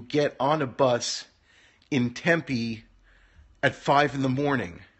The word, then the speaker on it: Tempe: going as far as Tempe which is how it's pronounced emphasis on the second syllable Tempe Arizona and uh Jay